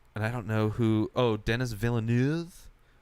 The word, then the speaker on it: Villeneuve: I don't know who, Denis Villeneuve? It's a name I remember. Villanueva? I think it's pronounced Villeneuve. I think it's like a French. Yeah, French Canadian.